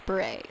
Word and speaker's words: beret: I they usually like take out the last letter and like not pronounce it so like it's instead of like betet it's Beret so like I don't